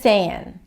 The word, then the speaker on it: sayin': Without a G, with an N, that sounds slangly, saying, just saying, right? That's how I would pronounce it.